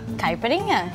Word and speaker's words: caipirinha: So now, this drink we're making today is called, is it caipirinha? Caipirinha.